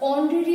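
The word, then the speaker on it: honorary: अब ऑनरेरी में भी आप देखिए एच साइलेंट है और आवाज सुनाई दे रही है ओ की, तो इसके साथ क्या आना चाहिए, एन।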